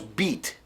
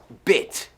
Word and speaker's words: bit: No decimos beat. No, it's bit. Bit. Pronúncialo conmigo, porque no es la I latina.